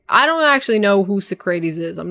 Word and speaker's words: Socrates: Socrates.